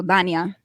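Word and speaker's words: Dania: it like you spell it ta yna I spell it d8 n IA so Danya that's so funny like my it's actually was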